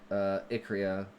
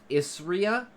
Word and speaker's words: Isria: Oh, also, when they get teleported to the other world called Icrea. The other world called Isria. They are all separated. Oh, it's pronounced Isria? Cool.